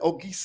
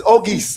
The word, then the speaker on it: Auguste: Well, I initially thought it was August. August. I just thought that the E was stylish. Okay, again. okay. Just there. Yes. It's Auguste, I think.